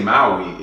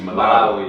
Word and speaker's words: Malawi: Well, I used to say Maui and it's actually Malawi.